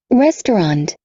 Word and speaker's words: restaurant: restaurant, Restaurant. Restaurant. Esquece essas duas aqui. Em algumas pronúncias, a gente vai usar um O aqui. Restaurant. Restaurant. Mas muitas vezes a gente simplesmente tira restaurant. Restaurant.